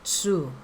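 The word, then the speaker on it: つ: Su, ayan, 1 and 2 lang. 1, 2, su. Pero actually, ang bigkas po dito ay tsu. Alright?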